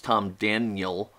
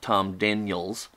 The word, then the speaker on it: Tom Daniel: In the original Tom Daniel model, I hate it when I mispronounce it, it's Tom Daniel, not Tom Daniels.